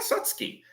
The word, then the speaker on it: Satsuki: It's May and Satsuki, I believe. Yeah, Satsuki. I got a win for that. One win for pronunciation.